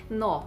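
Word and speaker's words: know: at the beginning part of the word k is silent we can see in the words like no okay the letter k it comes right before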